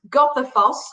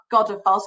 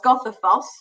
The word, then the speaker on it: Goðafoss: So now on to, it's pronounced Goðafoss, I've been told, not Godafoss, Goðafoss.